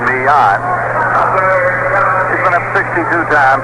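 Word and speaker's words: Millan: baseman is coming up at m-i-l-l-a-n and pronounces it me on he's been up 62 times at 12 hits one triple three runs rather than hitting 195.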